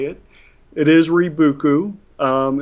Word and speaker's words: Rebookü: that how do you say it it is reuku um it's it's a madeup word but it